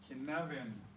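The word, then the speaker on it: Cynefin: Can you spell out Kinevin on the board maybe, since it's not obviously how it's spelled? Great, absolutely. Kinevin.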